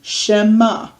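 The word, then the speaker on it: שמע: we'll say she okay we have the e sound underneath the sh she and then ma okay that can say that on its own is just gonna have the mem ah is this sound here okay shema and because the ian is silent it doesn't say a word okay if oh i'm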